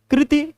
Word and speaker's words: कृति: कृति अगर ध्यान से देखो तो दोनों शब्द और दोनों उच्चारण भी सेम है, बस यहाँ पे क्या है, छोटी ई की मात्रा है तो कृति तुरंत रुक जाएगा, अब बड़ी ई की मात्रा में थोड़ा लंबा खींचा जाता है कृति, समझ रहे हो।